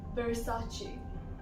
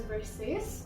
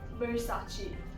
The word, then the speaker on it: Versace: Next one is from Italy and it is pronounced as Versace. Versace. Now I've heard many people say it as Versace, so it's not Versace, it's Versace.